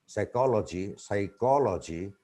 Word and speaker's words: psychology: And here is one, psychology. So here, the word starts with P is not pronounced.